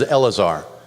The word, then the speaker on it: Eleazar: There's 3 syllables in this word. Aaron's son is not named Eleazar. It's a different word in Hebrew. So this is Eleazar.